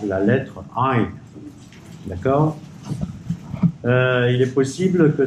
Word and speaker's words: עין: C'est-à-dire, alors d'abord la lettre Ain se prononce avec la gorge, d'accord? Ain.